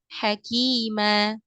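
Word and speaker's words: حكيما: Nah, kemudian yang harus diperhatikan di bacaan mad iwad itu biasanya terdapat kesalahan itu seperti ditambahkan hamzah di ujungnya. Jadi bacanya alima atau hakima. Nah, itu kurang tepat. Jadi dilepaskan saja suaranya, kemudian panjangnya hanya 2 harokat.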